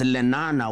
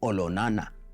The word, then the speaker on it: Olonana: His younger brother, now much more famously known as Lenana, was actually Olonana, to give it the correct Maasai pronunciation.